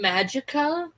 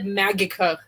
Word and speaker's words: Magicka: skyrim with real and he said magika magika he said yeah instead of saying magicka you know like magic he said magicka with a soft g wait yeah mag is